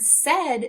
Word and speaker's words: said: this is unexpected because those two letters together as a vowel team are not making the sound we'd expect often if we see a and I together a team which is a rule we'll learn later they make the sound a but not today in the word said they're making the sound e as if it were a short e and because of that